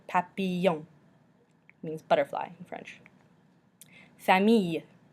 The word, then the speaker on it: famille: Famille. Famille. So this has just got an E at the end, which is not pronounced, so you just end with that Y sound.